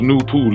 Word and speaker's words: NoopooH: Noone pronounced Noon is the science and philosophy of NoopooH, pronounced NoopooH.